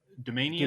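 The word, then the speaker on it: Doumanian: The Gene, how do you pronounce her last name? Do you Domanian.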